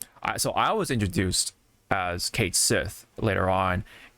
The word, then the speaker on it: Cait Sith: I that's how that's what I went with you know Kate Sith so but I never I never knew it was cat she until this um tweet